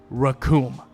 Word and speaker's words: Recoome: This is why you'll never be as good as the one and only Recoome. And his name rhymes with doom.